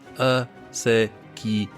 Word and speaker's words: acequia: Indeed, the word acequia, pronounced acequia, stress on the sa, is an adaptation of the Arabic as sikaya, sakia, not sure, meaning water carrier.